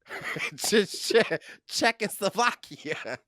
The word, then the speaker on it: Czechoslovakia: Did you miss an entire syllable? Czechoslovakia. Czech. Czechoslovakia.